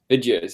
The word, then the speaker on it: Vidgeos: to learn this together Josh tell us about Vios is that how you pronounce it yeah that's right Vios Yeah so basically it's a like a view